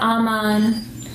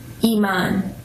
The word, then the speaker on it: Iman: My name is Iman. Not Aman, not Iman, not Eman, Iman. Say every syllable.